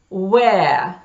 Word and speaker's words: where: В этих словах из двух букв W, W и H произносится только буква W, а H не произносится.